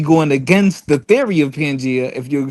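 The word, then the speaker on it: Pangaea: Hey, first first of all, first of all, the crazy thing is it's pronounced pangia.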